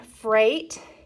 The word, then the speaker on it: freight: isn't that funny um freight and aigh makes an a sound so this G is silent well so is the I remember we borrow words